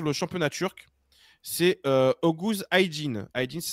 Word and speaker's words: Aydin: C'est Oguz Aydin. Aydin, ça s'écrit A-Y-D-I-N.